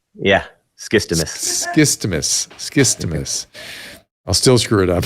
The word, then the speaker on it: Skistimas: Skistimas. Yeah. Skistimas.